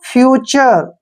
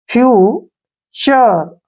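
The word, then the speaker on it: future: है एफ यू टी यू आर E word के आखिर में क्या आया है यू आर ई तो यहां पर उच्चारण होगा अर ठीक है ना अब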